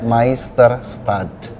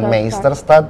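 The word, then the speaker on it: Meisterstadt: itu adalah bahasa Jerman sebenarnya itu dibacanya Mister stats bukan meister stat tapi Mister start karena huruf e ketemu I dibaca Oke Jika seperti itu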